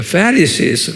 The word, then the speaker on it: Pharisees: 한번 발음해 보세요. Pharisees, 액센트가 Pharisees 그래요.